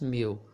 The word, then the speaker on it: mil: or in how so the l sound here will sound similar to the w to the way that